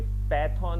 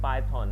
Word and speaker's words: Python: ये पैथॉन नहीं है, पाइथन है, PYTHON।